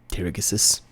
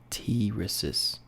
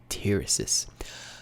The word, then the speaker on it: Tirigisus: Tirigisus. We'll keep that in future reference. And it's pronounced Tirisis. The G is silent. I see. Tirisis.